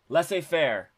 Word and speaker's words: laissez-faire: How the hell do you pronounce it? Laissez-faire.